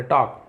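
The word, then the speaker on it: talk: L silent है ना toll नहीं पढ़ेंगे टॉक पद्मा से बात करने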